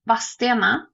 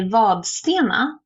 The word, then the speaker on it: Vadstena: place around here called Vadstena and it is spelled with a D in it, it has never been pronounced with a D in it.